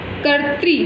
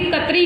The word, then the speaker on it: कर्त्री: बच्चों कर्ता इसको आपको बोलने में प्रॉब्लम होगी, कतरी नहीं होगा, कर्त्री। क्या बोलेंगे? कर्त्री। आप लोग क्या बोलते हैं? कतरी। कतरी गलत होता है, कतरी का ये उच्चारण जो आप कर रहे हैं कतरी गलत है, आपको बोलना चाहिए कर्त्री।